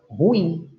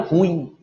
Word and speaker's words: ruim: de muitos ela vira ruim não ela é uma oxi lona é a última sílaba é a tônica essa terminação da palavra